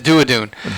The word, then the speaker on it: Duadoon: I asked how it was. I was like, that can't be Duadoon, and it is Duadoon.